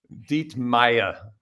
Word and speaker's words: Dietmeyer: so thank you my my father would be proud of that German pronunciation of the last name DEET Maya yeah have DEET Meer